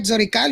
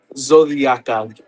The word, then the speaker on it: Zodiacal: Uh am I did I say that right? Zoral or did I say it wrong? Zodiaakal. Zodiaakal.